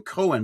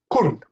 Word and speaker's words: Koen: I'm saying Cohen, but it's not Cohen, is it? It's It's difficult to uh to pronounce. It's just kun.